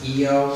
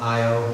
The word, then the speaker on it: Io: the moons of Jupiter I pronounce it EEO I think some people call it io either one they say either is